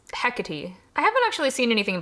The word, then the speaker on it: Hecate: So then I had another mispronunciation. It's Hecate. I haven't actually seen anything by Percy Jackson for what it's worth. Also, I'm pretty sure in Macbeth they do actually pronounce it Hecate, so...